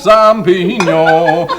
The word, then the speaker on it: champignon: Potage du jour, champignon. Notice that ñ sound, that's pronouncing it proper.